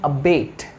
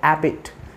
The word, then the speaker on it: abate: have the first word abate it's not Abit it's a bit say with me Abate very good the